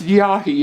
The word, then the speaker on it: Yhi: it's um it's an aboriginal word and it's pronounced yahi and i never knew that and it's an